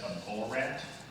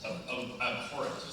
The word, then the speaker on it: abhorrent: I just want to emphasize, you said a bull rat? Abhorrent. Abhorrent. Abhorrent, sorry. Yeah, okay. Don't mispronounce the H, I apologize.